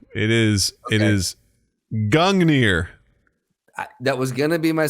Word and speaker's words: Gungnir: It is Gungnir.